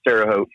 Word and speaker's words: Terre Haute: brother uh work in terot I live just outside of terot um and a lot of people have a hard time pronouncing that the way it's spelled but it's pronounced terot uh but yeah I